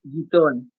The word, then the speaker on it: Guitton: Guitton.